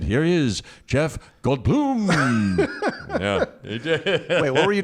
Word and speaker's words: Goldblum: Jeff Goldblum, not Goldblum. That's right. Although I was in Argentina once, and the David Letterman at the time of Argentina said, "Here he is, Jeff Goldblum."